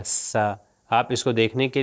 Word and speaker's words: ث: ہم نے آپ کو بتایا کہ سا جو ہے بالکل ذال کی طرح اوپر والے اور نیچے والے دانتوں کے درمیان میں زبان تھوڑی سی باہر آئے گی اور اس کا تلفظ ہوگا سا.